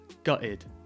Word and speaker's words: gutted: terms in British English quite often we don't pronounce the T so you'll hear a lot gutted guide oh I'm so